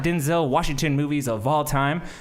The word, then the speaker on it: Denzel: Denzel is named after his father, who's also named Denzel, but it's not pronounced Denzel, it's pronounced Denzel.